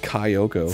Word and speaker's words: Kyoko: You pronounce it Kyoko. From Danganronpa? Like Ryo.